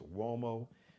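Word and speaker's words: Uomo: a r i o u m o it's pronounced wo but it's spelled uo m o Bruce Gage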